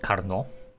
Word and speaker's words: Carnot: I call it Carnot, because I think it is the way it should be pronounced.